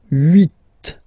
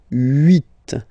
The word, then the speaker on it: huit: Okay, then here final T is pronounced, so huit, huit. Remember in French this H letter here, okay, doesn't exist phonetically, so we don't really pronounce it, okay, so if you